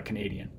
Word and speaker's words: Canadian: this case we have once we add the the end Ian ethics to it to talk about a person who's from the location stress shifts to be on this syllable here Canadian so two